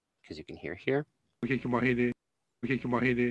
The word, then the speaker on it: kaikamahine: Words meaning sibling, so kaikua anna, kaikumahine, are spelled like an A-E, A-E, but pronounced more like an A, because you can hear here. Kaikumahine, kaikumahine.